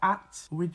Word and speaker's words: hat: So in Jamaican patois, the H's tend to be very quiet when you pronounce it. So be ready with your hat would be your at. Be ready with your at.